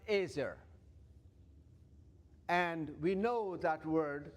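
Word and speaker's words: עזר: I guess if you can see it, you may recall the word that is used in Hebrew is pronounced ezer.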